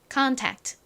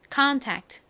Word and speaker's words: contact: 읽어 보면 contact가 됩니다 끝에 는요 굉장히 작게 발음이납니다 그래서 컨택트가 아니라 conta contact 이렇게 정도로 소리를 내 주셔야 합니다 앞에서 봤던